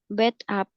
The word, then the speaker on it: bathtub: It has a bathtub. Bathtub. Bathtub. Bathtub. Bathtub. Bathtub. Ya, jadi itu yang dipenggal pas bacanya itu yang dipenggal tuh kayak gini. Bathtub.